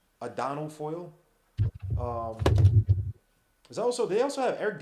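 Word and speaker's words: Adonal Foyle: Ardino, whatever his name is, Ardino Foyle. Adano. I'm sorry, I say his name wrong. Adano Foyle.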